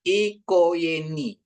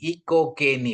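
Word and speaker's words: οικογένεια: Gamma ini sering jadi Y, Yangki dalam bahasa Indonesia. Y. Ya. Jadi bacanya dia ikoyeni. Ikoyeni. Ya. Ikoyeni. Ikogeni. Bukan ikogeni lagi gitu ya.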